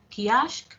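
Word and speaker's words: köşk: Por ejemplo, en el caso de kiosco, con K, en el 84 nos indica su información etimológica del persa kushk, pronunciado por los turcos kiashk, pabellón, y en la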